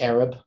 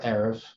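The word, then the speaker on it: ערב: And this B is pronounced, well, it could be Arab or Erev. It's probably, it was originally a B sound.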